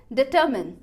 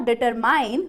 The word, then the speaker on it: determine: अब इसकी प्रोनाउंसिएशन हो गई डिटरमाइंड, डिटरमाइंड मतलब टर वाले पार्ट को ऊपर ले जाना है, डिटरमाइंड। अब उसके बाद लास्ट लेवल पर पता चला कि जो स्पेलिंग लिखी है एग्जैक्टली उस स्पेलिंग की प्रोनाउंसिएशन क्या है, डिटरमिन, नॉट डिटरमाइन बट डिटरमिन।